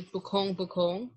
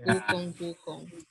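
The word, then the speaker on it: bukung-bukong: Like how you don't, like on 15, you don't say bukong bukong, you say bukong bukong.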